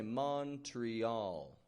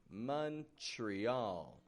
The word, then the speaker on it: Montreal: A lot of people say Montreal, Montreal.